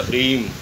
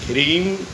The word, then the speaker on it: ह्रीं: ह्रीम महालक्ष्मी का बीज मंत्र, उसमें जो बिंदी ऊपर है उसको मकार में बोला जाएगा, ह्रीम। और क्ली के ऊपर जो बिंदी है उसको भी मकार में बोला जाएगा, क्लीम। एंग, ह्रीम, क्लीम, चामुंडा यई विचे।